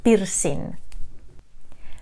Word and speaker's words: pirsin: Of course, the pronunciation will be just as you see it written here in Spanish. We say pirsin.